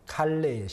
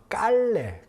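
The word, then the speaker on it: Calais: 칼레의 시민이라고 하는 작품이에요 칼레의 시민 자 이게 무슨 작품이냐 men 제가 설명을 좀 드릴게요 프랑스에 보면은 칼레 어 깔레 칼레라 보통 이제 발음을 하는데요 칼레라 하는 도시가 있어요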